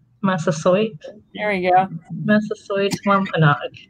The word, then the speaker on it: Massasoit: Well, I don't speak Wampanoag, but I've always pronounced it Massasoit. Massasoit?